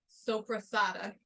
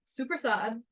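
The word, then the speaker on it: soppressata: I would have thought that it was called sopra Sada but from how his family pronounces it it's suad and then sometimes you gotta like get the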